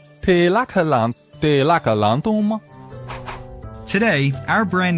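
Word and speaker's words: De Lage Landen: For many years, we were known as De Lagerlande, a name that was hard to pronounce to anyone but the Dutch. De Lagerlanden? De Lagerlanden. De Lagerlanden.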